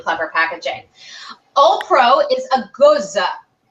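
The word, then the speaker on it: Gose: packaging opro is a goza Goa is how you hear people say go but it's actually goza I um I I've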